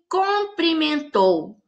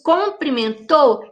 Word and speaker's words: cumprimentou: comprimento e cumprimento porque é muito comum a gente ver as pessoas pronunciarem ela não me cumprimentou nossa gente onde eu ouço isso comprimentou quero então ela não